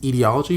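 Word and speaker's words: aetiology: second is ideology a-e-t-i-o-l-o-g-y i've usually seen it pronounced as etiology but this is the other version i guess she is professor at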